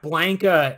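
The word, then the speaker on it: Blanka: the blanket thing yeah blanca is how you're supposed to pronounce it and uh the main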